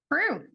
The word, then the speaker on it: Preu: Is it Pru? Pru. Yeah. Good. I've never heard it pronounced so I wasn't sure.